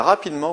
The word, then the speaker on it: rapidement: Il a rapidement repris le contrôle des opérations. Rapidement, on a une prononciation en aimant, donc rapidement, R-A-P-I-D, E, un seul M et E-N-T.